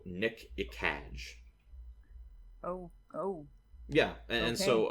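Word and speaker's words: Gnk'ekaj: his name is um it's spelled GN K apostrophe e k AJ so Nick iage oh oh yeah and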